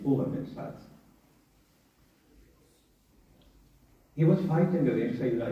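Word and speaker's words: Umar ibn Sa'd: His name, the real pronunciation of his name is not Amr bin Saad, it's Umar bin Saad.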